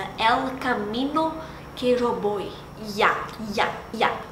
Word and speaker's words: ya: Ya. É quase um ya com J e D junto.